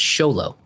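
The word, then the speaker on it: Xolo: miguel from cobra kai his name is spelled x-o-l-o and it's show low oh see okay i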